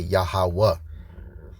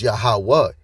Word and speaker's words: Yahawah: So it's really supposed to say Yahawa. Now they got Jehovah meaning the existing one. When you go and use the actual paleo ancient Hebrew Yahawah, Yah means he, right? So it's Yahawah.